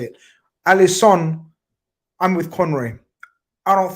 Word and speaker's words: Alisson: and foremost, did you notice the commentator saying Alisson? His name, how it's supposed to be said. Did you notice that? Anyone else, guys? He was being referred to as Alisson, not Alisson. Okay. So it's Alisson, and that's I've been told by my South